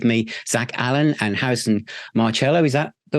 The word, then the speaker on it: Marcelo: Zach Allen and Harrison Marcelo is that the right way of pronouncing your surname hello Marcello it's kind of easy on him usually the Soft C though Soft C okay firm rock band tempt